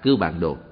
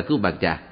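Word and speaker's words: Cưu Bàn Trà: Đúng ra những chữ này phải đọc là Cư Bàn Đồ. Nhưng hiện nay những người tụng chú đều đọc là Cư Bàn Trà. Có lẽ Cư Bàn Đồ cũng biết mình bị đổi tên rồi. Do vậy, quý vị có đọc là Cư Bàn Trà thì cũng được linh ứng như nhau.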